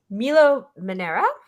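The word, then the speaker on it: Milo Manara: Milo Manera.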